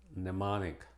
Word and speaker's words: mnemonic: Y es muda en una sola palabra, mnemonic.